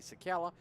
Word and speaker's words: Czekala: Marty Sakala on Facebook or Twitter at Marty Sakala. That's spelled Czekala.